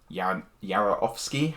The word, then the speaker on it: David Yarovesky: it's produced by James Gunn, not directed by him, and directed by David Yarovesky, I believe it's pronounced.